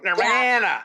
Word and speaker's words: Nirvana: Or Nirvana. Okay. It depends how you say it. You got to remember, I got a Canadian accent. So Nirvana.